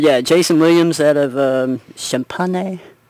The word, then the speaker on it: Champaign: But yeah, Jason Williams out of Champaign. I don't know how to say that, but I'm pretty sure that G is silent.